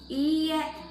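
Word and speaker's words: いいえ: formal way, just say iie. But be sure to pronounce the e sound in iie to make it a no. Otherwise, if you shorten the e sound and say iie, that would mean house.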